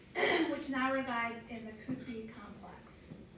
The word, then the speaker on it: Qutb: Qutb al-Din Aibak commissioned one of these structures in Delhi, which now resides in the Qutb complex. I'm not pronouncing that right. It's Qutb.